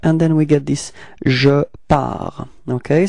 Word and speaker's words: pars: First person of the singular, it's je, and then we get this je pars. Okay, so it's ending with a S, but then we don't pronounce it, so je pars.